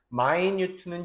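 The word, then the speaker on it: minute: 이거 마이뉴트라고 읽습니다. 미니트는 명사고 우리가 시간 분할 때 그 분이 미니트고 마이뉴트는 형용사로서 이제 미세한이란 뜻으로 쓰이죠.이 피접을 하게 되면 이제 실현 가능한이란 뜻이고요.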